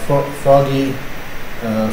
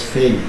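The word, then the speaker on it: Foege: People call it Foggy, Faggy, but it's Feige, so it's nice to be here.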